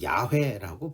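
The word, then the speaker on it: יהוה: 여호와 하나님의 히브리어 단어는 여호와는 야훼라고 발음을 합니다 야훼 그리고 하나님은 엘로힘이죠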